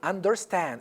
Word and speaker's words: understand: on the second okay understand understand on the under under understand it's on the third understand advertisement or advertisement